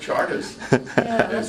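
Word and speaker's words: Chartres: r t r e they pronounce it Charters really really interesting interesting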